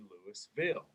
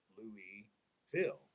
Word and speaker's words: Louisville: lewis guyana louie sienna louie phil which is kind of like how you say it and so you're more